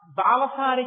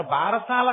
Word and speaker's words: బాలసారే: అందుకే ఇప్పటికీ మీరు సంప్రదాయం తెలుసున్న ఇళ్లలో చూడండి, గబగబా చాలా ఏదో బాలసారి చేస్తుంటారు. బారసాల కాదు, బాలసారే. బాలసారే అంటే బాలునకు ఇస్తున్న సారే, కానుక. దాన్ని బారసాల, బారసాల, భారసాల, ఎంత భారమైనా ఎక్కించారు. అసలు దాని ఉచ్చారణ బాలసారే.